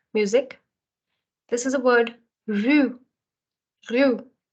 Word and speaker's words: rue: Rue, rue. So R again comes from the throat, but if you're not able to pronounce it just exactly, कोई बात नहीं. अभी के लिए you can try with rue.